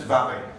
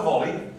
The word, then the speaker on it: valley: Well, I know the story, and I've read it, and it's valley. It's a valley, not a volley. It's not a volleyball.